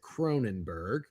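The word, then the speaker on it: Kronenbourg: I have I believe you pronounce it Kronenberg.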